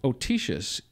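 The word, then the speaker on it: autoecious: adjective autosis atocious uh let's see otisius actually otisius can you spell it c i a-u-t-o-e-c-i-o u s it's got toe in the middle of it so that goes back to 1877.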